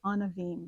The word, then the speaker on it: Anavim: And this is where the word that you were having a little trouble pronouncing, which rhymes with a dream, from dream to Anavim. It's almost a little musical, from dream to Anavim.